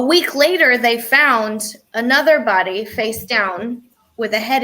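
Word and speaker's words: beaux: that oh it's a bowl the way the b-e-a-u-x is pronounced bo which is weird i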